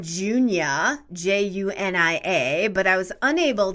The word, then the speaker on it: Junia: i love the name junia j-u-n-i-a but i was unable to find out much about it meaning origin i know it's a bible name though it sounds like julia but with an n can you help me